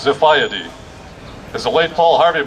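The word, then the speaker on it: Xiphiidae: Greek swordfish and it's spelled x-i-p-h-i-i-d-a-e and it's pronounced zafaya d is the late Paul Harvey might have said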